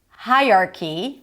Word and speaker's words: hierarchy: And common mistakes could be hierarchy. Hierarchy and not hierarchy or hierarchy. I heard that as well. Hierarchy. The stress is always on the first syllable.